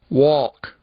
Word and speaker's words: walk: Agora nós vamos escutar um outro som do L, que na verdade inexiste, em duas palavrinhas, e nós voltamos para ver mais alguns casos. Walk, talk.